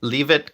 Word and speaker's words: Leavitt: So, another name being mentioned is Caroline Levitt. Am I pronouncing the last name correctly? Leavitt, Caroline Leavitt.